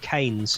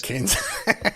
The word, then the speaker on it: Keynes: It looks like it's Keynes, but you pronounce his name Keynes. I've always said Keynes.